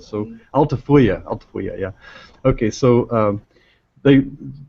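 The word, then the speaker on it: Altafulla: what is it called unfortunately it's not pronounced the way it's spelled so altifya yeah okay so um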